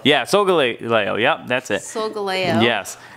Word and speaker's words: Solgaleo: Solgaleo. Yeah, Solgaleo.